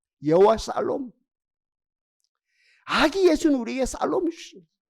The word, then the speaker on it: 샬롬: 인사합시다 아기 예수는 우리에게 평화를 주셨습니다 아 여호와 살롬이 발음이 좋으면 좋은데 죄송해요 기가 막힌 발음인데 여호와 샬롬 아기 예수는 우리에게 살롬 주신 많은 거 주신